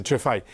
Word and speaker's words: Cefai: Monseñor Giovanni Chefai, para pronunciarlo correctamente, Chefai.